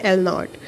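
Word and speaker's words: L₀: Late एल नॉट, एल के साथ ये माइनर से ज़ीरो, इसको हम प्रोनाउंस करते हैं एल नॉट।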